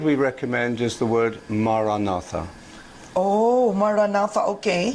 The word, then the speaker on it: Maranatha: Maranatha is the oldest Christian prayer. St. Paul ends the first letter to the Corinthians with it. It means, "Come, Lord." And we say it as 4 syllables, Ma, Ra, So what is Click Na, Up?